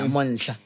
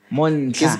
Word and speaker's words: Monhla: Where did I'm failing to pronounce the Mon. Is it Monhla? Monhla. Monhla.